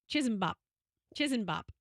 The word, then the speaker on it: Chisanbop: What is the actual pronunciation? Chisenbop.